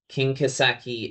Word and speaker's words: Kinkaseki: Kinkaseki is just the Japanese pronunciation of these characters.